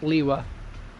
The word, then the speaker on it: Liyue: It's pronounced Liwa. Liwa. Liwa. Liwa? Yeah. Chinese phonetics is a little bit peculiar. It depends on whether it's Mandarin or Cantonese.